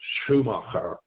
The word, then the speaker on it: Schumacher: I don't know how you say it, Shannon, but that's how the Germans would say it, so Schumacher.